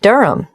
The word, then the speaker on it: Durham: At 1 Uranga Street, Durham. How do you spell Durham? Durham. Of course, I should know that. But it's just one of those names that sounds quite different from the way you spell it.